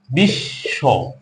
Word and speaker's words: বিশ্ব: কিন্তু এখানে যে বটা তালিবস্য ধ্বনিটির সঙ্গে যুক্ত হয়ে বসেছে, এটাকে আমরা উচ্চারণ করি এভাবে, বিশ্ব।